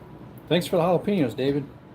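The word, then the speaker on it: jalapeños: Like, thanks for the jalapenos, David. Galilapenos is some people call them. If you're a white person, don't know how to say it.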